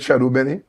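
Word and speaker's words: chadon beni: And so you could plant in this case I have my my my shadon benny. We call it Shadow Benny. It's spelled like Chadon Benny, but and I have here my um French time.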